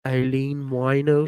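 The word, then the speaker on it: Aileen Wuornos: was like aline eileen eileen wino just always whenever you want to think of how to pronounce her name just think of a a wino no a one-legged stripper her name is eileen oh that's a good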